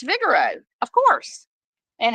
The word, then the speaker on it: Figaro: where you where you want to go it's Vigoro of course and how are you spelling that because you're saying Vigoro but it's figuro but it's pronounced fi G a r o yeah I